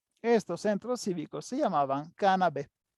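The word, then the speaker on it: canabae: Estos centros cívicos se llamaban cannabé. Cuando encuentran una palabra latina que tiene la A y la e se pronuncia como si fuera una e. Entonces, cannabe.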